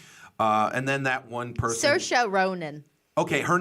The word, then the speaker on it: Saoirse: how to spell that, I'd be that's C-O-R-C. Saoirse. There's S-O, so I-R-C. So Saoirse.